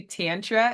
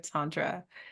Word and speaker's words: Tantra: me all the time when I say Tantra instead of Tantra so it just happens